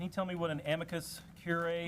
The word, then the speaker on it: amicus curiae: gab can you tell me what an amicus curiae is is that correct pronunciation it is the amicus brief is what